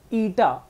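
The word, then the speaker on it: Eta: ईटा, अब इसको कई लोग है ना इसको न्यू प्रोनाउंस करते हैं, गलत है, न्यू देखो क्या है,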